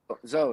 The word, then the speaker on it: Zao: Zao. Is it Zao? Is that the correct way to pronounce it? Zo, yeah. Yeah.